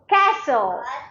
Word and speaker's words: castle: light light s t t is silent T is Focus S in the middle like castle castle castle listen L listen L